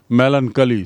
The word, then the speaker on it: melancholy: मेलनकली सीधा उच्चारण, चोली नहीं है, मेलनकली।